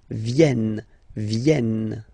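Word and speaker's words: viennent: e e okay ven so remember this classic ending n for the third person of the plural is here but phonetically doesn't exist so you don't pronounce it venen okay elen all right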